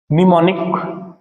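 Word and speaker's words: mnemonic: भी बोला जाता है एम साइलेंट रता है इसमें ठीक है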